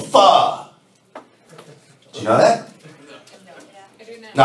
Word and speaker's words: pho: I'm like, boy, it's not pronounced a Faux. It's pronounced a pho.